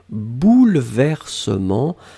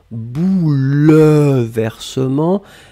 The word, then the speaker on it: bouleversement: pluriel bouleversements alors attention on écrit vraiment eu après le elle même si phonétiquement il n'existe pas vraiment on ne dit pas bouleversement mais on prononce bouleversement mais le 1 doit être là et bien sûr le